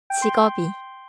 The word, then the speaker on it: 직업이: 이번에는 직업이에요. 직업이. 자연스럽게는 직업이처럼 들려요. 직업이.